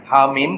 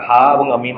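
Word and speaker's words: حم: কাটা, ডিসজয়েন্ট মানে কাটা, হামিম কাটা, হাম বলতেছি না আমরা, তাই না, কাটা বলতেছি আমরা, হা এবং মিম আলাদা উচ্চারণ করতেছি।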